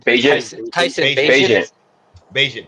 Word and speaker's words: Bagent: Tyler Bagnut, Bagnut, Bagjit, Bagent. Tyson Bagent, Bagent. Tyson Rhymes with Bagent. agent.